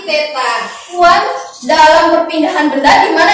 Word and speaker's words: theta: Ingat, ini bacanya bukan lingkaran dibagi 2 ya, tapi theta.